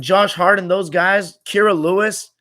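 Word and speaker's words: Kira Lewis: hart and those guys kyra lewis kyra lewis is how you say his name whenever we'd load up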